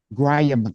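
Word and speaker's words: graham: a silent h y a silent h and only one a y y so unless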